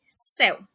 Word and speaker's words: céu: E em céu, a letra E é pronunciada com um som aberto, ou seja, tem até mesmo a questão de uma tonacidade maior, principalmente por conta do acento.